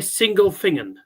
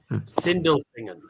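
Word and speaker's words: Sindelfingen: Did you say single thinging? No, single thinging. Sindelfingan it's it's how it's pronounced synindelfingan that's where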